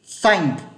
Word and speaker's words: thank: Đấy, thì âm đấy nó mới là âm thanh của đúng của tiếng Anh. Chứ các bạn phát âm là thanh thì đấy là tên Anh rồi, không phải là cái từ cảm ơn.